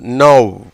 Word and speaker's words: know: கேக்கு என்ன சொல்கிறோம்? உச்சரிப்பு கிடையாதுனால இன் ப்ளஸ் ஒவ்வுன்னு போட்டோம். ஓடபிள்யூவுக்கு அவ்வுங்கிற ஒரு அர்த்தமும் ஓசையும் இருக்குதுன்னு நம்ம சொல்லியிருக்கோம். அதனால் இன் ப்ளஸ் ஆவ் நவ்.